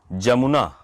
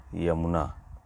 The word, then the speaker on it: यमुना: अगला शब्द है जमुना। जमुना का शुद्ध रूप होता है यमुना।